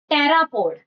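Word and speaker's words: pteropod: अगला देखो टेरापोड। P silent है।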